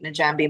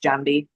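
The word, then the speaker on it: Njambi: Uh one of them was run by Najambi McGrath. Um, I might be butchering the pronunciation that it might be pronounced Jambi with the silent N.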